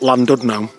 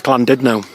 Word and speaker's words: Llandudno: I've been calling him St Tudno for ages, but it's actually pronounced St Tudno. Just like it's not Llandudno, it's Llandudno.